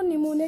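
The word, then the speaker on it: pneumonia: जो निमोनिया की स्पेलिंग है वो PN से स्टार्ट होती है। यहाँ पे P क्या होता है? साइलेंट होता है। तो क्या बोल देंगे इसे? प्लूरो निमोनिया के समान सूक्ष्म जीव, समान जीव।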